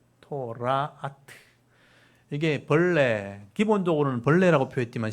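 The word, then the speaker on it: תולעת: 벌레란 말 보시면 이게 오 발음이니까 토가 타우잖아요. 토라아트.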